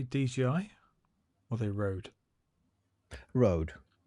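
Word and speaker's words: Røde: Rode. Or Röd, because that's not how you pronounce that letter. That is our letter. The O with the like, yeah. The company can say what they want, but they got it wrong.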